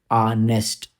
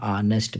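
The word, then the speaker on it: honest: होना चाहिए ठीक है जैसे एन आनेस्ट एच तो है मगर आ की साउंड होती है एन आनेस्ट मैन ठीक है ये चीज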